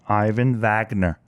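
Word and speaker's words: Ivan Vagner: station okay okay there's a russian cosmonaut named ivan wagner okay and i just pronounced that correctly in russian got it he's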